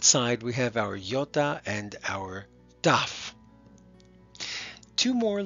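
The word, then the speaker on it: γιώτα: under that is called yota yota and yota is just its name its sound is a long e okay like we might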